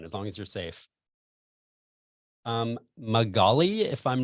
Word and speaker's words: Magali: Magali, if I'm not butchering that name, I hope, and Sarah Cruz.